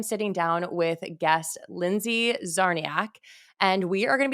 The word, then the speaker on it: Czarniak: We both have CZ's, Zarnia. So the C is silent.